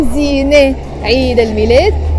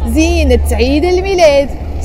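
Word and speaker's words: زينة عيد الميلاد: But the moment you follow it by Eid al-Milad, you can't say Zine Eid al-Milad. You have to say Zinat Eid al-Milad.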